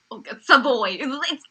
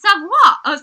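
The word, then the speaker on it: Savoie: I was kind of surprised that Team White lost because they had Wright, Savoy. It's Savoy. It's Savoy. It looks like Savoy. I say it like Savoy. It looks French.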